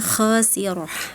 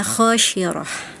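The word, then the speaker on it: خاسرة: Kemudian yang kedua ya huruf sin ya ee dilafalkan seperti huruf syinah ya itu ada di surah An-Nazi'at ayat ke-12 ya. Jadi qolu tilka idza karatun khosirah harusnya tapi tadi dibacanya khosyirah.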